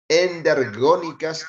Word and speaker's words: endergónicas: sigamos transformaciones endergónicas endergónicas no se olviden poner acento en la o endergónicas y exergónicas cuando es